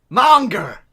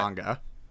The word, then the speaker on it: manga: Monger! You mean manga? Monger! No, Joe was pronounced it manga, and it's actually pronounced right. manga. Okay, the other way around then.